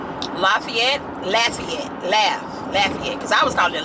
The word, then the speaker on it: Lafayette: to pronounce Lafayette Lafayette laugh Lafayette cuz I was calling it Lafayette lafette and my friend who's from their area she was like no it's laugh Lafayette I was like laet